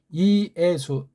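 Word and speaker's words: Ἰησοῦ: 하나밖에 없으니까 그다음 이거 수 이건 두 개 써 있지만 단모음으로 읽으니까 그래서 이예수 삼음절짜리예요. 이게 이예수라고 읽어야 돼요.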